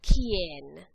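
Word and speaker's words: quién: the word who is Ken Ken remember anytime there's a Q and youu together it makes a c sound so make sure you're pronouncing these correctly K Ken and we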